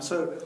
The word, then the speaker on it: sin: for the sign ratio we write it as Sin but actually it's still pronounced s and sorry just bumping